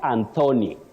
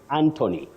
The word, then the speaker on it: Anthony: not Thailand Brian mutes Anthony not anony Anthony Wesley cherot you say